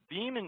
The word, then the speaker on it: Veeam: Veeam was founded in 2006. It's a privately held company. The name itself just comes from the pronunciation of VM, as in a virtual machine.